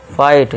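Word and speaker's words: fight: इस तरह से क्या पढ़ेंगे, फाइट, GH silent, फाइट, फाइट, लाइट, फाइट।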